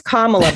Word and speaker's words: Kamala: Um I learned it's Kamla, by the way. So, if you do meet her, you have to you have you have to pronounce you have put the emphasis on the first a or else I don't know.